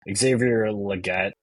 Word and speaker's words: Xavier Legette: church um but uh moving on from peol Xavier Legette right that's how you say his name um